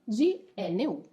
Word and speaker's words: Gnu: GNU, pronunciato col G duro, quindi in realtà GNU.